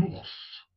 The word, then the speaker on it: ours: Un ours, on prononce le S final.